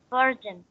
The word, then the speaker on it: bargain: Again, pronounce Bargain. An bargain. This is, listen up. This is ga sound, not ja.